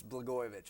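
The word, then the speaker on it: Blagojevich: How do you say his name? It's Bgoyovich actually.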